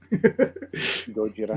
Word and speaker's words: Gojira: Uh, Godzilla, Gojira, Okay. as it's pronounced.